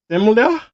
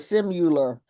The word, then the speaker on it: similar: Uh, similar. Yes. And you pronounced it correctly. Good for you. Some people call it simul, but notice it has an I and not a U in it.